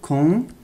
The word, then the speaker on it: condoléances: إذن لاحظوا هنا اس لا تنطق.